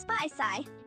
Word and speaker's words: Spaicy: like you'd say C put them all together and it's spy sigh hope that helps Ryan